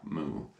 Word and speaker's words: mu: move chords and that's like your cow Moo but it's spelled mu and this is the